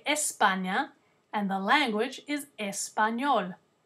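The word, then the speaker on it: España: letra e is Espana Espana is how you say the country Spain in Spanish Espana is in Europe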